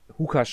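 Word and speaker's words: Łukasz: Anscheinend spricht man Lukasz auf Polnisch Hukasz aus, wieder was gelernt.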